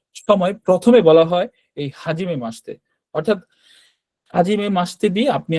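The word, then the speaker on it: はじめまして: কিন্তু এটার উচ্চারণ হাজিমে মাশিতে হবে না। এটার উচ্চারণ হবে হাজিমে মাসতে।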